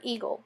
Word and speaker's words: eagle: The A is part of the grapheme, or spelling, of the word eagle, but is not pronounced phonetically.